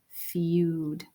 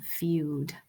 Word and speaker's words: feud: the next word is feud let's say that word feud the e is silent and the u is long feud a feud is a